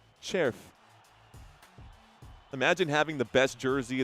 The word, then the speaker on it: Červ: Červ Červ, it's c r c e r v pronounced Červ.